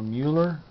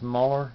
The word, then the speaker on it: Mueller: All right, well, I'm studying something new, and I believe his name is Bill Muller or Mueller. I don't think it's Muller. It's pronounced Mueller, I think.